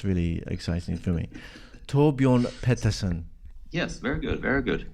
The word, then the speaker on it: Torbjorn Pettersson: You have to help me with this pronunciation, okay? Torbjorn Pettersson. I just love the Scandinavian accent. It's really exciting for me. Torbjorn Pettersson.